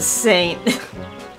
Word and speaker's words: Sainte: Oh, you pronounce it Saint.